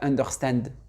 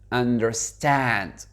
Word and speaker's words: understand: manière qu'il est prononcé, dites pas understand, understand, understand. Et l'accentuation, elle se fait sur la dernière syllabe.